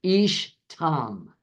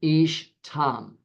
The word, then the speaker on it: ish tam: Now in Hebrew, this is the phrase ish tam. So we'd spell it I-S-H for your notes, T-A-M, ish tam.